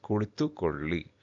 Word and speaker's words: ಕುಳಿತುಕೊಳ್ಳಿ: So this la sound has to be properly pronounced. Okay, so that's why we have two dots here at the bottom of L, that is la. It is ಕುಳಿತುಕೊಳ್ಳಿ.